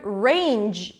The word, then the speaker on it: range: a sound ranch HHH the word range is a as and a ray-ray okay range e so the G sound is the voiced fare of the sound that's the difference so